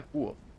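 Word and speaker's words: Kvothe: Me llamo Quoth, que se pronuncia Quoth.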